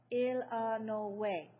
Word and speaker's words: Illinois: the Illinois state line he pronounced Illinois ill no way exactly the way everybody in by banks Kentucky pronounced it and hearing that ill